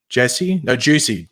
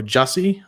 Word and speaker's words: Jussie: Whether he actually was, it's pronounced Jesse, but it's spelt like that.